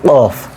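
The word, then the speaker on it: ق: অনেক কঠিন একটা উচ্চারণ কফ ঠিক আছে কি উচ্চারণ এটা কফ আপনার জিহ্বার একবারে ভেতরের অংশটাকে যেটাকে বলা হয় উপরের অংশে লাগিয়ে দিবেন হ্যাঁ উপরের দিকে আর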